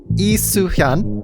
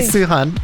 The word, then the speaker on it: Lee Suhyun: You give me Lee Suhyun. Did I say it right, Stephanie? Yeah. Yes. Good job. Yay. Lee Suhyun.